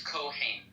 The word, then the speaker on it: Kohen: Yeah, in Hebrew it's Kohen.